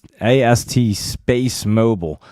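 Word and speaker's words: AST SpaceMobile: And AST Space Mobile.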